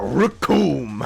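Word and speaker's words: Recoome: Oh yeah, Raccoon. It rhymes with doom.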